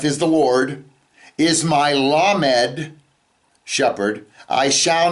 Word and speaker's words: lamed: Well, the word lamed is a letter. It's also, if you spell it, the lamed, mem, dalet, can also be pronounced lamad.